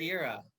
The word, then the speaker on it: Madeira: Is that M- pronounced correctly? Madeira. That's very close. Madeira.